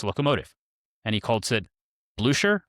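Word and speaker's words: Blücher: and he calls it Blusher, I think is how you pronounce that. There's a Prussian general that beats Napoleon that it's he named this after. Blue Share. Blueshare. Yeah. I We need the Austrian accent to actually pronounce that properly.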